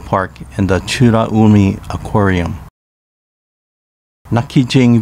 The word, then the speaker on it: Nakijin: and the churaumi aquarium nakijin village pronounced nachi jing is where nakijin castle